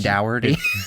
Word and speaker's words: Dougherty: Like Shannon Dougherty. Dougherty. Dougherty. Like a dough, like bread. Yeah, exactly. Because that's how it's spelled.